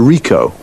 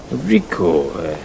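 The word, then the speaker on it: Ricoh: It's a Rico. Rico. How do you spell that?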